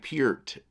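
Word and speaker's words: Peart: pronounce his name wrong it's like puret not pert right it's not p-e-r-t it's the a in there i'm just it's like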